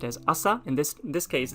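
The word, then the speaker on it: 朝: Even though the kanji for morning by itself is pronounced as asa, in this case it's kind of like merged together with the ima, and it becomes kesa, means this morning.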